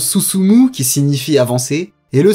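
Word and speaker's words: 進む: Le premier se prononce Susumu, qui signifie avancer, et le second Utsu, qui est l'équivalent de frapper en français.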